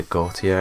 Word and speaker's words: Gautier: And we're going into the Gautier Inheritance. That's how it's pronounced.